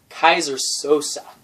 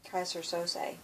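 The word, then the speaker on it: Keyser Söze: Because there's this mysterious character called Kaiser Sosa. Kaiser Sose. Sose, yeah. And I wonder how you spell that.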